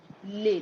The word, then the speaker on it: les: is pronounced as lif lay that's how it's pronounced but so you don't pronounce the s because it's written alone but when we have